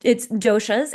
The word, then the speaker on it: dosha: do you pronounce it? You tell us. Yes, so it's doshas, and Doshas.